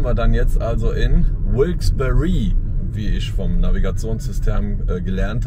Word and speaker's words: Wilkes-Barre: Wie spricht man es nochmal aus? Wilkes-Barre.